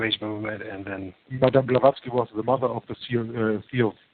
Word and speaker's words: Blavatsky: Through the Theosophical movement and New Age movement, and then Madame Blavatsky was the mother of the Theosophical movement, as I pronounced that right?